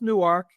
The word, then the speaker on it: Newark: Remember it's pronounced Newark and EW Newark.